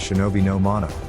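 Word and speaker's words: shinobi no mono: feudal society in Japanese the term ninja written using characters that could also be pronounced as Shinobi no mano carries with it the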